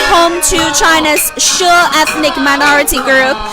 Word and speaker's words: She: it's home to china's shure ethnic minority group the word she might sound like she in english but in chinese in mandarin especially they are uh it should be pronounced as shu so sho is one